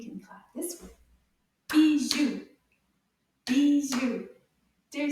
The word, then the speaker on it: bijoux: Bijoux. Deux syllabes. Bijoux. Bravo. The X doesn't make a sound.